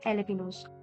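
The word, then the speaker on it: jalapeños: जाते हैं, जैसे कि एलेपिनोस। एलेपिनो में हम J देखते हैं वो साइलेंट होता है, तो J का कोई कोड नहीं होता है।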